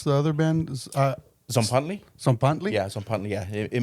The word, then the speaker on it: Tzompantli: and what about uh your how do you pronounce the other band uh zley zley yeah Zant yeah it means a a